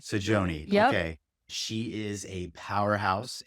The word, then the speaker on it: Saggione: Am I pronouncing Sajon? Sajon.